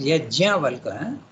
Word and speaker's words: Yajnavalkya: Yajnavalkya, you have to pronounce the JN when you write in English, but in Sanskrit it is Yajnavalkya.